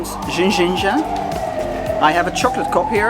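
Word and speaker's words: ginja: partout dans la ville, donc ça se prononce en fait jinja j'ai une tasse de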